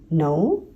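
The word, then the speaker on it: know: Okay, KN में K जो है वो साइलेंट होता है। नो, नाइफ, हम इसे कनाइफ नहीं पढ़ रहे।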